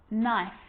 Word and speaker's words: knife: you know this one a k is not pronounced when it comes before an n like knife no knee knock not